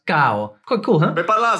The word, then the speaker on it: caro: For example, the word caro is pronounced cao.